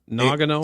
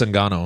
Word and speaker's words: Ngannou: Nagano? It's Francis Ngannou.